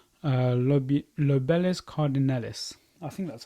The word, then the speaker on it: Lobelia cardinalis: So just here, just there, I've got a plant called Lobelis cardinalis. I think that's how you say it. Anyway, let me just double check. Yeah, it's Lobelia cardinalis.